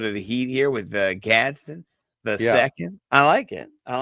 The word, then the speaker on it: Gadsden: a little bit of the heat here with Gadsden the second.